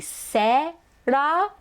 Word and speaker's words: Sarah: So in American English, it is Sarah. The vowel is sa. And then the second vowel is So I think in Japanese, a closer pronunciation would be Sera, not Sa-ra.